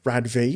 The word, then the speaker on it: RADV: it took quite a while for RADV, is how you actually pronounce it.